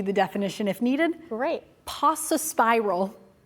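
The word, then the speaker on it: paucispiral: Pasa spiral. Pasa spiral.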